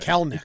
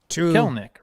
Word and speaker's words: Kelenic: Kelnick. It does not work that way. Kelenic. What do I keep saying? It's Kelnick. Kelnick. Two syllables. Ignore that second E You when mind- you're talking about him.